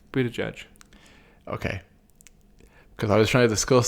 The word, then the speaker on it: Buttigieg: How do you pronounce his last name? Buttigieg.